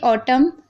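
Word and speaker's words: autumn: अब देखिए ऑटम, column, him.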